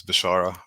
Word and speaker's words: Beshara: just you know so people don't get upset as bashara uh the correct pronunciation but anyways um to